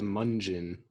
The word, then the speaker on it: Mungion: It's spelled Mungion, by the way. That's correct. Like Funyun.